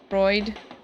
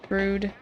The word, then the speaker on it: Freud: Freud? Frood? Why am I saying Frood?